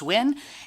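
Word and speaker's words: Nguyen: R O C H E L L E last name is N G U N pronounced win and I represent Senate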